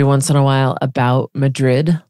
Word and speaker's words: Madrid: am from Madrid and I shouldn't say Madrid because that's an I'm saying that with an English accent I should say Madrid yeah yeah she said